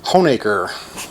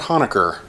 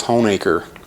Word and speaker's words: Honaker: pronounced drum roll please hoenaker not honaker as so often is mispronounced but it is home acre and that was suggested